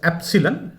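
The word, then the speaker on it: Epsilon: Remember the pronunciation, it's एप्सिलन।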